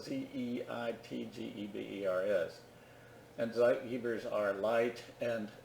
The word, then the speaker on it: Zeitgeber: by external cues called Zeitgebers. And that's from the German Timegeber. It's spelled Z-E-I-T-G-E-B-E-R-S.